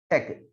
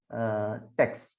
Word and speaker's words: TeX: And let us all remember the man, Donald Knuth, behind a programming language, tech. So you have to pronounce it as tech and not text.